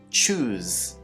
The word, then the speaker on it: choose: choose chose and chosen the s is pronounced like a zed choose choose chose chose chosen